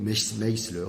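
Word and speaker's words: Maister: D'un point de vue professionnel, je recommande un livre sur la gestion des cabinets avocats qui s'appelle de David Meisler, s'écrit Maisler, qui s'appelle True Professionalism.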